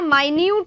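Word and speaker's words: minute: Right, small हो गया, माइन्यूट हो गया, माइन्यूट बोलेंगे इसको, मिनट नहीं बोलेंगे, है ना, मिनट और माइन्यूट की स्पेलिंग बिल्कुल सेम होती है, लेकिन माइन्यूट इसको बोला जाता है, ठीक है।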